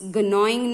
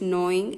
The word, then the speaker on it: gnawing: It's gnawing nahi. G is silent, gnawing and nibbling.